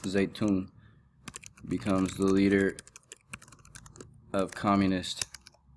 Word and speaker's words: Zedong: And then make sure you know this, 1949, Mao, it looks Zedong, but it's pronounced Zaytun, becomes the leader of Communist China.